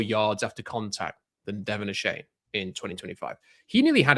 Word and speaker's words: Achane: So I've I had a look it's I'm mis- I've been mispronouncing his name for so long. It is Devon Achane isn't it? So it's not a Shane whatever I was saying.